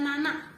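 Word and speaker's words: なな: dia untuk teman-teman Halo untuk angka 7 di atas 10 dibaca namanya temen-temen dibaca Nana kalau untuk empat angka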